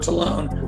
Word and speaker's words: Tolone: of the channel just my name is tallone i americanized my name to loan because it pronounced it you know we've killed the old